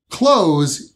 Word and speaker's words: clothes: Clothes is spelled C-L-O-T-H-E-S.